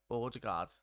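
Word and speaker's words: Ødegaard: this season that oh Odegaard is pronounced older guard spots on there hey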